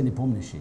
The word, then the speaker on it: Nepomniachtchi: In Russian, we say Nepomniachtchi. Yes. Nepomniachtchi.